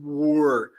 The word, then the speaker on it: were: Então, sempre no inglês o W é som de U, o E final a gente nunca vai pronunciar e a gente capricha nesse R, né?